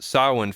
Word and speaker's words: Samhain: celebrate what they called, it's spelled Samhain, but pronounced Samhain Festival or Summer's End Festival.